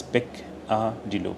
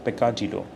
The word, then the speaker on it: peccadillo: Pronunciation is peccadillo. Peccadillo.